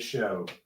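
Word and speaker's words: Shough: I mean, you just went and did all this to get show. Uh, is that how you say his name? Tyler Show. Uh, spelled like dough, so I'm assuming.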